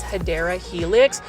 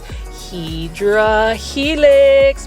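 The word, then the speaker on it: Hedera helix: beautiful English ivy or the correct way to say it is hadera Helix for those that are new to the channel I mispronounce hadera Helix as hedra Helix because when I first started doing plant shopping videos I was actually saying hedra Helix when it was actually hadera Helix it's um a long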